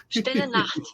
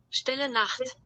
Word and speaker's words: Stille Nacht: And Randall and I both tried to pronounce it, and hey, we murdered it. Stille Nacht. You hear it? Stille Nacht. Stille Nacht. Yes.